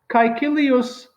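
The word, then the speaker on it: Caecilius: textbook sentence number one kaikilius now i am pronouncing the latin um as the romans did in the time of julius caesar there are a few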